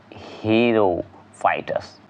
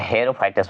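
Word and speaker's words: xerophytes: नाम बताइएगा, क्या बताइएगा, हीरोफाइटस, हीरोफाइटस, ऐसे हेरोफाइटस बोला जाता है, ध्यान रखिएगा, लेकिन यहाँ उच्चारण किया जाता है हीरोफाइटस, बस इतना ध्यान रखिएगा। चलेगा, हीरो जैसा लिखा हुआ है तो हीरोफाइटस होता है।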